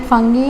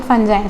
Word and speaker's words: fungi: Okay, some pronounce it fungi and some pronounce it fungi.